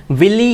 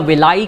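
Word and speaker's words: villi: Known as द विली, या इसको कई प्रोनाउंसिएशन में कई अलग अलग तरीके से लोग बोलते हैं, विलाई भी बोलते हैं, that's a better option actually.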